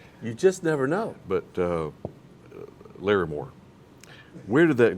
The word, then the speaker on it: Larmore: But it's Larry Moore. Depends on what region you're in.